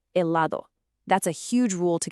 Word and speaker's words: helado: The H in Spanish is always silent. It's a ghost letter. So the word helado is actually pronounced helado.